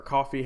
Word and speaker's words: Ko-fi: I've experimented with using Ko-fi or Coffee, however you want to pronounce it, Ko-fi.